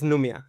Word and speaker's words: Numia: En inglés también es Numia o Numia. Sí, es Numia.